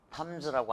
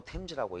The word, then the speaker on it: Thames: 이걸 탐즈라고 안 읽고 템즈라고 읽더라고.